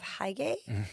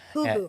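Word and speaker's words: hygge: The little book of Hay. Is that Did I Did I pronounce that right or did I butcher it? Hugu. Hugu.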